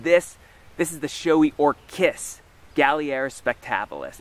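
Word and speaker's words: Orchis: this is the showy or kiss Galliera spectabilis and Orcas is not a mispronunciation there is a genus of orchids known as orcas mainly found in Europe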